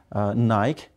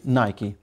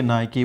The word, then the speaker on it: Nike: of sport but the word is wrong he mispronounced it is naik it should be Nike so we say Nike we don't tonight and what about Eddie guys